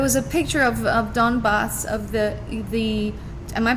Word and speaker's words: Donbas: was a there was a picture of of donbaths of the the am I pronouncing it correctly yeah perfect the boss the